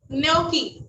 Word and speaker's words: gnocchi: Okay, सो Latika ma'am का question है, I don't know ये शेफ मैं प्रोनाउंस नहीं कर पा रही, also be made by this dough. Gnocchi.